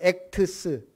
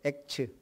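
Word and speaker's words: Acts: 그냥 우리말로 액트스. 제가 영어 발음이 안 좋아서. 액트스가 뭐예요? 액츠. 그렇죠. 그냥 사도행전은 액츠예요.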